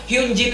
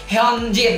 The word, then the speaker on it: Hyunjin: Tapi kalau di Hangulnya atau dibaca Koreanya itu Hyunjin ya, Hyunjin. Oke, Hyunjin, bukan Hyunjin. Itu romanisasinya bener Hyunjin, tapi cara bacanya itu Hyunjin. Jadi Hyunjin ini penyebutannya ya Hyunjin namanya ya.